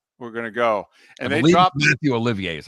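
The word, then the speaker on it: Mathieu Olivier: to go yeah we're gonna go and they Matthew Olivier is how you say his name is the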